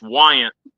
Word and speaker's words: Weygandt: of letters in there but it's it's Wyant why young just no well just Wyant Wyant yeah okay too many